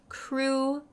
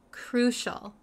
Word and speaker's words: crucial: need it so the pronunciation really quick the pronunciation is crucial crucial crucial um sometimes I know some students have